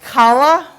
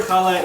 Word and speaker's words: Challah: funny name that I didn't know how to pronounce until earlier. And I asked these ladies, is it called Challah? No. Is it Challah? No. How on earth do you say this stuff? Challah.